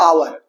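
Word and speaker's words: hour: एन का प्रयोग किया जाता है जैसे एन आवर आवर में स साइलेंट है एन ऑनेस्ट मैन नेस्ट में य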